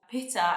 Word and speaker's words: pita: They also say it Pita, which for us, that's the name of a boy.